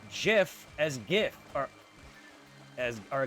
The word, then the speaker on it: GIF: "Well, do you pronounce GIF as GIF or as or GIF as GIF because canonically that's what the creator says. GIF is now is pronounced with a J not a G and I no one